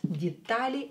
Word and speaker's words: детали: Детали are details. Детали. Е will be pronounced as E, D, because it's not stressed.